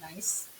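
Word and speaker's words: gneiss: metamorphic rock this is it's spelled g-n-e-i-s-s but it's pronounced nice um and nice i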